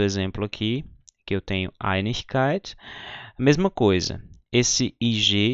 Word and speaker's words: Einigkeit: Às vezes acontece, como esse quarto exemplo aqui, que eu tenho Einigkeit, a mesma coisa. Esse IG está aqui no final da sílaba.